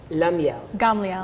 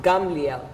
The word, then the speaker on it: Gamliel: Her name is Lamiel. Gamliel. Yeah. Did I say it right this time? Yes.